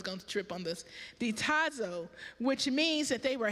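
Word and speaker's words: διστάζω: hesitancy in the Greek it means it is pronounced the I knew I was going to trip on this diazo which means that they were hesitant this means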